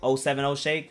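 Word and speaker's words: 070 Shake: vindy i think that zero seven zero shake deserves that uh how do you say it oh seven oh shake zero seven zero same thing all right um go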